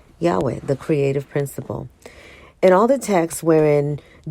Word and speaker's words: Yahweh: And they're actually spelling it YHWH. And so I'm just pronouncing it Yahweh, the creative principle.